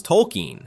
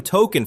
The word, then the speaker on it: Tolkien: Everyone except Stan Marsh and Randy Marsh, who have been calling him Token for 25 years because they simply heard the name wrong and never corrected themselves.